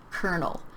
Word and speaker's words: colonel: And this word is pronounced colonel. These words, they don't look, the spelling is totally different from how you pronounce them.